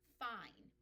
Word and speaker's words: fine: But when I put the E at the end, the E makes the I say its name and it becomes fine.